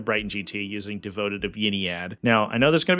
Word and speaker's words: Ynnead: GT using devoted of Yad now I know there's going to be a bunch of comments that say down below oh it's pronounced y need and first of all Yad sounds cooler and second of all